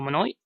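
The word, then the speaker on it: Moinet: So Summer Rae, or Danielle Minoy, as how you pronounce her surname, has retired at 36.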